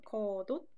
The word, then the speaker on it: 겉옷: 겉옷은 발음이 이렇게 돼요. 겉옷.